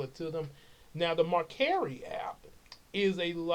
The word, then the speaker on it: Mercari: So anyway, Marcari, that's the way it's pronounced according to what I looked up, Mercari or Mercari.